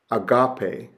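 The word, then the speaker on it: ἀγάπη: to know is that the accent mark is placed over the stressed syllable of the word so the acute is agape Agape or the grav is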